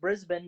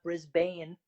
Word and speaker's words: Brisbane: and I know it's pronounced Brisbane, not Brisbane. So You got that right, dude.